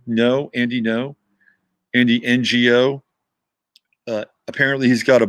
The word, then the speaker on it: Ngo: say his last name no andy no andy ngo uh apparently he's got a book on antifa